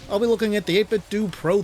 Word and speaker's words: 8BitDo: And yes, it's technically pronounced 8BitDo, not dough, if you were wondering.